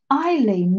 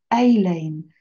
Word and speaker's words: Eileen: Eileen, not Aileen, but thank you. Eileen. I do know the difference, but it's just the pronunciation.